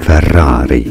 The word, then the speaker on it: Ferrari: Ferrari. Ferrari is how you say it, but that you already knew.